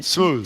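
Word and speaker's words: Smoove: The great JB, how do you pronounce his last name? Smooth.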